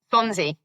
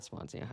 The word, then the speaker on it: Swansea: Swansea. Swansea. Sorry, not Swansia.